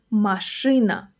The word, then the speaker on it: машина: Stress is on the second syllable.